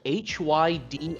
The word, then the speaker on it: Hydrocity: is pronounced, and then they typed a word that's spelled Hydrocity. Good luck reading that correctly. So, alright, chat. You want chaos? I'm gonna cause chaos. It is pronounced Hydrocity.